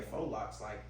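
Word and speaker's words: faux locs: Am I pronouncing it correctly? Faux locks? All right, yeah, faux locks.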